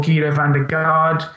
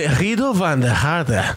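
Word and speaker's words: Giedo van der Garde: Saw Guido van der Garde. Excuse me, I'm sure you mean Guido van der Garde. Guido van der Garde, sorry. Wow. apparently that's how you pronounce it.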